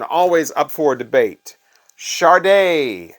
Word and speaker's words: Sade: for a debate chardey charde is how you say her name not Sade sure day and as a matter of fact the um the uh cassette and the original CD came out with a pronunciation right on it I mean that's her own label doing that now when she says her own name she kind of says shade but so it's kind